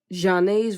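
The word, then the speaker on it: Zhané: Janae's version of Shame, and yes, that's how you pronounce that name.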